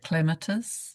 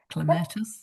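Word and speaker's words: Clematis: Now subject to actual pronunciation is it cleatus or clatus.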